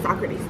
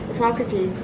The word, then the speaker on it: Socrates: Actually, just kidding, it's Socrates. Don't pronounce it wrong.